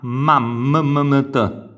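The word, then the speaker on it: mammeta: La prima A la sentiamo la vocale, le successive vocali non le sentiamo per intero, ma t. Quindi c'è un suono appena accennato.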